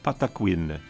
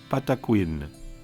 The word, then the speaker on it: Patakwin: The native word for sacred sound is pronounced Patakwin. Patakwin.